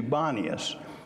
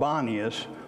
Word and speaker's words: Banias: Today it is called Banias, for local Arabs have difficulty pronouncing the P sound in Paneas. So they couldn't sound the P, so it became Banias, and that's what it's known as today.